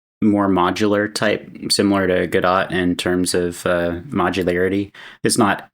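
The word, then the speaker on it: Godot: do I think it's I think the t is silent I say good I say gdo too.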